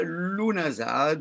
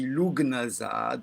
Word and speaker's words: Lughnasadh: cette semaine, cette quinzaine, à Lunazade, on peut dire aussi Lugnazade, on peut lire Lunaza, Lunaza. Finalement, comme c'est un très vieux nom celte, chacun peut y aller de sa petite prononciation.